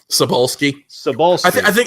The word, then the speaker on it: Cebulski: Cebulski.